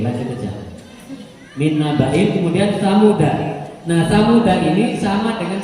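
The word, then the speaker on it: ثمودا: aja Min nabain kemudian samuda nah samuda ini sama dengan salasila tadi bacanya persis sama ketika stop bisa dibaca tsamud atau samuda kalau terus dananya dibaca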